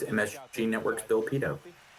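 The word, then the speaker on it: Pidto: Hey, it's MSG Network's Bill Pito. It's pronounced pedo.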